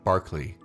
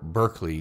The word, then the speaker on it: Berkeley: know idealism best from George Barkley or Berkeley depending on your pronunciation and your proximity to California Barkley might have had